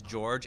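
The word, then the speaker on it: Joerg: to point out that his name is even though it is George it's spelled j-o-e-r-g you gotta have George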